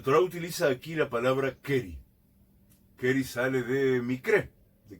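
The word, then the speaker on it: קרי: hem behamat keri.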